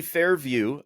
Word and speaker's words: FairVu: Uh it is a basically so the company Fair View uh is spelled fair vu instead of the traditional vie w.